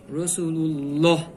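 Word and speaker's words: رسول الله: আল্লাহ শব্দের ডানে জবর, এখানে উচ্চারণ করতে হবে রাসূলুল্লাহ।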